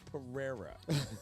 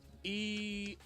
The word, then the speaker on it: Pereira: Peirre.